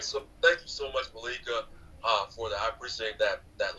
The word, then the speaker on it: Malika: Like when you're now pronouncing my name in Luya, you say Malika. Okay. Malika. Okay. Malika. Malika. Yeah. Okay, got it. Yeah. So emphasis on the first syllable.